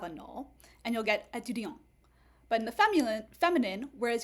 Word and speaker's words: étudiant: So for example, in the masculine, you also have a null, and you'll get étudiant.